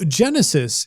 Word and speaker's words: Genesys: is Genesis all about so Genesis is uh actually stands for generic system uh spelled g e n e s Ys uh so different than the way probably most people would spell that word um it is the